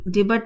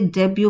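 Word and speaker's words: debut: Sorry डिबेट ने इसे डेब्यू पढ़ पढ़ेंगे। यहां डी टी साइलेंट रहेगा।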